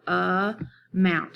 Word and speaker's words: amount: And this one has a first syllable that has the unstressed schwa sound. If you can say that word, amount. You really hear the mount, the in the mount part.